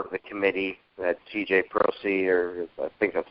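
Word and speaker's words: Prosise: Prosey, or I think that's how you say his name.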